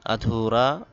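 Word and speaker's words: ادھورا: বেকার বেকার বা কর্মহীন আধুরা অসম্পূর্ণ আধুরা অসম্পূর্ণ এখানে আদুরানা এই দালের পরে হা আসার কারণে দালটা ধা বাংলা ধ এর মত উচ্চারণ হবে আধুরা অসম্পূর্ণ আধুরা অসম্পূর্ণ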